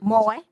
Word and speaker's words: Moye: The VA clinic is at 401 Moore, I think I pronounced that right. Moye, M-O-Y-E.